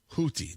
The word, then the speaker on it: Houthi: targeted multiple hotti leaders h u t hii hooti that's how it's pronounced and then you've got